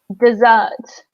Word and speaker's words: dessert: There is another word that is very similar, which is, a minute, dessert. Okay, so in dessert, we stress the second syllable, and a dessert is a sweet thing that we eat after dinner.